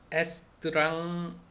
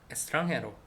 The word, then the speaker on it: extranjero: 대부분은 이제 하는 건데, x 플러스 자음, 일 때는 그냥 스 발음이다. 그래서 extranjero, extranjero, extranjero, extranjero, extranjero, 외국인이라는 뜻이래요.